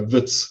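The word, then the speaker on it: Wits: school in johannesburg uh vitz affectionately known spelt with a w uh not a v um i entered uh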